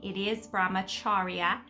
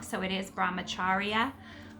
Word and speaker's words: Brahmacharya: So first of all, Brahmacharya, which I was pronouncing incorrectly, Brahmacharya, which I do hear a lot of people say. It is Brahmacharya.